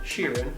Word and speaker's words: Sheeran: ed sheeran that's how you say his name sheeran apparently sure behind this mask a lipstick b